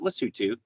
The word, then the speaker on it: Lesotho: what the heck's the lesotho it's spelled lesotho which is the way we would pronounce it in english but they they pronounce it lisutu it's a country surrounded